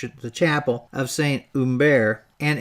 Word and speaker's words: Hubert: the chapel of saint umber and it's spelled with an h but the french don't pronounce it it was done in 1493.